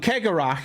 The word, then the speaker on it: Karak: ago um yeah yeah how do I pronounce karak I pronounce it like that which I fully admit is going be completely different to many others out there so um karak for those of you